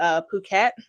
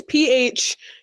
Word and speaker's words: Phuket: the place that we went to, which was Phuket. Phuket. I'm not going to pronounce it the other way. It's Phuket.